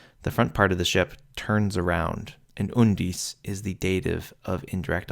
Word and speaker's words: undis: beginning of the foot, and the accent is on the U syllable in undis, also the beginning of the foot.